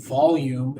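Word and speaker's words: Vholume: It's called Volume. It's spelled or volume. It's spelled V H O L U M E.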